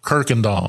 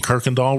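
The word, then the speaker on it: Kuykendahl: We're located at 15555 Kirkendall, and there's no R in Kirkendall. That always gets me, yeah. And that's at the corner of 1960 and Kirkendall Road up in the northwest part of Harris County.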